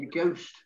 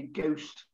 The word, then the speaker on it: ghost: it but he's just simply ghost forget the kind of bananas any h in it it's just simply ghost honest yeah times sometimes